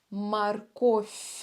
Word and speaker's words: морковь: морковь Будьте очень внимательны в конце слова морковь у нас буква В с мягким знаком но очень часто в конце слов буква в оглушает и произносится как ф морковь ф ф мягкая как Фея похожа по звуку морковь морковь следующий овощ лук